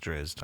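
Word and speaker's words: Drizzt: I like to say Drizzit. I'm sorry. That's how I like it. But I know that it's pronounced Drizzed.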